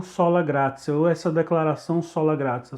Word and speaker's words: sola gratia: É exatamente assim que se pronuncia. Você pode estar estranhando porque tem um T aí, né? A pessoa pode pronunciar sola gratia, né? Mas a expressão latina é sola gratia. Não dá para explicar o princípio do latim, do porquê que tem esse som de C, né?